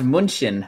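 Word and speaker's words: München: huh sorry go ahead off deutsch is pronounced munchin fun fact i know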